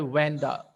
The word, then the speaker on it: Wanda: Some people pronounced this word Vanda. In your hell book, it is given Vanda Petronsky. You can say Wanda Petronsky.